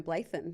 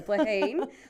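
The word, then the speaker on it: Bláithín: I mean she was an unknown quantity so much so that you could have been forgiven for calling her Blan because that's how it's spelled but no Blaheen looking forward to seeing her in action for her first grand final next week.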